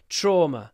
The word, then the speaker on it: trauma: trauma remember you don't you don't want to pronounce the V there's no V in this word trauma Americans say trauma trauma